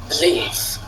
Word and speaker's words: believe: Alors, quelle est la syllabe accentuée ? Believe. Believe. OK. Là, il y a un peu de doute. Première, d'cun deè que vous preniez attention à la façon de prononcer. Believe donc c'est la deuxème qui a OK.